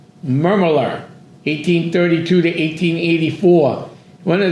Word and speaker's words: McDermott: Mcdermott is the pronunciation.